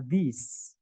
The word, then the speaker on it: these: those, kemudian this sama these. Gitu ya. Nah, ini bacaannya beda, teman-teman. Jadi yang tulisannya I bacanya E, yang tulisannya E bacanya I. Jadi this sama these, gitu ya.